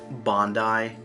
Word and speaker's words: Bondi: It's pronounced Bondi.